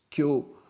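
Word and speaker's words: 経: ça se prononce Kyo, Et au sens de sutra, ça s'écrit kiau, et ça se prononce aussi kyo.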